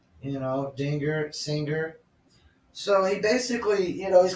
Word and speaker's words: Dinger: The mascot's name is Dinger. Which rhymes with singer. Dinger, singer.